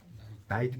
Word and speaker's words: knight: 나이트. 그렇죠. KNIGHT. 이 나이트에서 K가 묵음입니다. KNIGHT라고요. 그때 K를 발음하면 안 돼요.